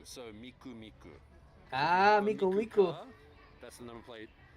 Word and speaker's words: Miku: nine three nine because three in japanese three you can pronounce it me nine is ku so miku miku ah mikomiku that's another